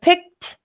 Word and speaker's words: picked: So picked, this is an ED ending in which sounds like a T.